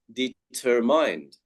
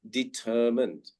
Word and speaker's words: determined: or mind, we say determined. So the stress is on the ER sound, determined. So we do not say mind, but we say mund in this word, determined. Yeah.